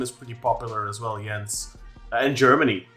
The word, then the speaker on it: Jens: my pronunciation the name the name Jen does kind of it sounds like a French name. Yens is a typical Scandinavian name.